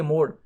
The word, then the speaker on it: Moore: तो इस तरह आप याद कर सकते हैं यार मोर मशीन है इसका प्रोनाउंसिएशन दोस्तों ऐसी है मोर, ठीक है।